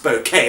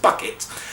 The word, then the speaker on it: Bucket: Basically, she pronounced it Mrs. Bouquet. It's actually her real name is Mrs. Bucket.